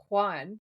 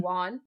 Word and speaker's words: Juan: Cuz when they were filming this episode, he pronounced it correctly like a Mexican accent is it's Juan, right? It's like an H W sound instead of just saying Juan.